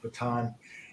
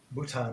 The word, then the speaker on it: Bhutan: if you remember that in Baton and Baton Bhutan there we go get it right didn't pronounce it that's